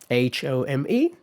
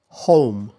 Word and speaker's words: home: Okay, so this time I said the American pronunciation first. So home home and home home home Sounds a little different. So both are diphthongs. That's the same neither one, but they start from slightly different positions.